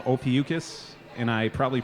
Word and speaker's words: Ophiuchus: playing the fest a band from Tennessee called Ophiuchus and I probably pronounced it wrong but no you pronounced it